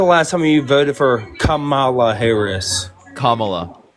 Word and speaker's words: Kamala: When's the last time that you voted for Kamala Harris? There you go. You can do it.